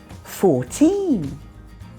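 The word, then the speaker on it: fourteen: 14. Vicky stressed the second syllable there.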